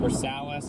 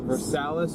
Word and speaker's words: Versailles: Chad, is uh is that Versales or is that Versailles? V E R S A I'm telling you that. I L L E S. The E S is silent. The L l is silent. It's Versailles.